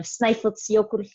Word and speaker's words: Snæfellsjökull: So that's just kind of a fun, the pronunciation of Snaefellsjökull glacier.